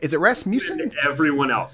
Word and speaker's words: Rasmussen: Is it Rasmussen? Everyone else. It's Rasmussen. Rasmussen. Okay. Not like you don't pronounce the vowels at all basically.